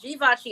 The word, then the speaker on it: Givenchy: it da vinci i know everybody tries to pronounce the g vinshee but it's givenchy if you're gonna if you're gonna pay 650